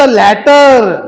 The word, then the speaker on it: later: इफ द लॅटर, लॅटर म्हणजे संबंधित व्यक्ती, लॅटरचं स्पेलिंग पहा, LATTER आहे. मी त्याचा उच्चार लॅटर करतो मुलांना. एक असा शब्द आहे LATER, त्याचा उच्चार लेटर करायचा.